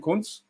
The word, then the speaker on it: Kuntz: I've bought a 46, Christian Kunens or Kunz. That's how you pronounce his name, Kunz.